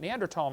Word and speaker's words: Neanderthal: By the way, in case you don't know, the Neanderthal Neanderl, the H is silent. Neander tall man is named after